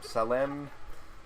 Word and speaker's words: Salem: Oh, there's, it's pronounced Salem. Don't really know how to spell the name.